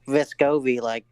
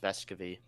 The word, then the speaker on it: Vescovi: Like Vescovi, however you say his name. I'm pretty sure it's pronounced Vescovi. Anyway, he I don't know.